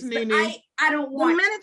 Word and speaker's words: NeNe: It rhymes with Renee. It would I don't want to say Nene, but I know it is. It's Nene.